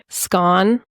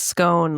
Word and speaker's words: scone: So it's either scone that rhymes with cone. So that's there's a scone that rhymes with cone and then all the way to orange which is scone that rhymes with gone.